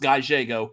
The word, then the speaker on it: Gallego: your life gallego it's pronounced guy jago he works that he